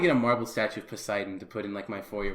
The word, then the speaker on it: Poseidon: Poseidon? That is not how you pronounce that word. I think he is all of those, isn't he? It's Poseidon.